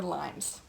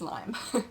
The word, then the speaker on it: Lyme: Number 7, is it Lyme or limes? It's Lyme. I mean, lots of people in the Lyme community get kind of butthurt when people call it, oh, is it limes?